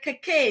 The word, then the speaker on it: Cacay: This is the Cacay, C-A-C-A-Y.